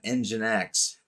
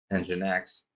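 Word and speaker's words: NGINX: Then we have engine X which is pronounced just like it sounds engine X plus load balancing and application delivery.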